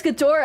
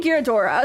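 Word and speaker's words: Ghidorah: There you pronounce uh Oh, it's Gdora. I keep saying Girodora. Sorry. Sorry. It's Gdor. It's Gdora, not Gyodora.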